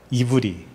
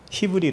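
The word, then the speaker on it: עברי: 에르에서 어떤 말이 나왔냐면 이브라고 하는 이브리 예 원어로는 이브라고 돼 있어요 근데 그걸 우리나라 발음으로 히브리 그래 히브리 히브리인 하면을 건너온 자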